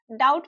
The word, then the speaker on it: doubt: ऐसे ही डाउट डाउट में बी बी को प्रोनाउंस नहीं किया जाता है।